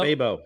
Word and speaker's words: Fabo: calls him Fabo uh Fabo I say Fabo I like to make a rhymes with Dabo yeah these last five